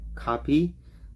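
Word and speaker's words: kape: I might not say it really really good copy but it's pronounced it's spelled k-a-p-e copy and it means coffee now in Spanish you say Cafe in English is coffee so one more time Spanish Cafe bisaya copy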